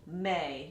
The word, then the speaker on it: me: draw an extra syllable may. Now these syllables are Italian, so M-I is pronounced me, and then M-E is pronounced May, like the month of May.